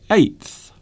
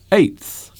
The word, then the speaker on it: eighth: is spelled eight again eighth not easy to say I think the th sound at the end can be very hard to say sometimes eighth the eighth day the